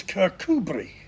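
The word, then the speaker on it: Kirkcudbright: modeling colleges car cut bright in Scotland is kirkubri Leo minster is lemster and tianmouth is tinmouth and habisberg is pronounced hayesboro while we're on the subject of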